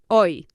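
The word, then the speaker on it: hoy: uh very busy today you remember today is oi h o y o so I'm not very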